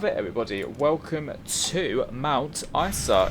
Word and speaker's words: Isa: Welcome to Mount Isa. If I'm pronouncing that wrong, someone do let me know if I issa or ISA. It's probably Isa. I don't know why I said Issa earlier on.